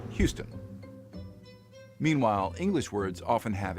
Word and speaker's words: Houston: on words for example all French words are stressed on the final syllables usually with a higher pitch and greater volume that's why French speakers will call the Texan City Houston instead of the English Houston meanwhile English words often